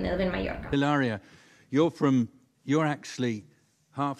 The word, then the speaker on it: Hilaria: it's not it's hilarious it's not even hilaria there is no h there's no h so pretend there's no h it's like hola